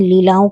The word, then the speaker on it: Leila: मिलेंगी जिसका नाम है लीला। जी हां, बिल्कुल सही सुना आपने। लीला। हालांकि कुछ लोग हो सकता है इसे लैला भी प्रोनाउंस करें। लेकिन मैं तो इसको लीला ही बोलूंगी क्योंकि वाकई जो इसमें